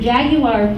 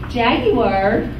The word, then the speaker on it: Jaguar: Jaguar, that's how they pronounce it in Britain, is Jaguar. And they think that we weren't it by saying Jaguar. It's not Jaguar.